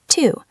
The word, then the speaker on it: to: Many of our most common small words like to, for, and of use this schwa sound when we speak naturally. Exactly. Let's take the word to.